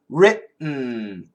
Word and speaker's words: written: Written, written.